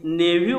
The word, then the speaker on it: nephew: This word has one other more pronunciation. You कैन say this नेव्यू also. इसे नेव्यू भी कहते हैं और नेफ्यू भी कहते हैं.